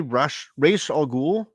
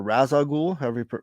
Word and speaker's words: Ra's al Ghul: Now we have Batman One Bad Day, Ra's al Ghul, or Raz al Ghul, however you choose to pronounce that.